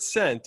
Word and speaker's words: scent: more philosophical sir um in the word scent as in aroma is it the s or the c that is silent scent i would say the c is silent well played i don't